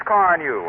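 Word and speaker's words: Carnu: Ask for Johnson's Car New at your regular wax dealer, auto supply store, or service station. It's spelled C-A-R-N-U.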